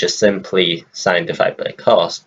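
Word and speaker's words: cosh: Then we have cos, just simply cos as the pronunciation.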